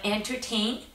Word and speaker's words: entertain: So entertain, this is the verb, entertain. Yeah, mind the stress that I'm putting on the second syllable, enter.